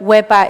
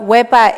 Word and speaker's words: Wepa: would you say it you're supposed to carry the e for as long as you can and carry the a just as long so I won't scare